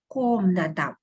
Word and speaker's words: комната: In the word комната, letter O is stressed, so we pronounce it as O, комната.